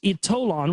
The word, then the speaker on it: Ytolon: The power of Ytolon, it's pronounced Ytolon, was revealed to me during a spiritual hypnotherapy regression during which I experienced life in Atlantis.